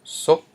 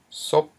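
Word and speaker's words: ສົບ: Now we have another example, sop, which means lips. Sop. Okay, we have a high consonant s plus a short vowel o, and then a dead syllable p, which equals a rising tone.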